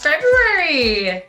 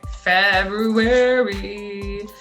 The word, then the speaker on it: February: February. February is a tricky month to spell because most people say Feb, you-ary. And we know because we did a whole month of January that airy is spelled A-R-Y.